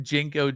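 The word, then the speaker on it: JNCO: Um, but if you're wondering what Jenko jeans are, it's spelled JNC O jeans.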